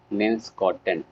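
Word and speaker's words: Linschoten: एक बंदा था जिसका नाम था जॉन ह्यूवेन वैन लिंस्कॉटन।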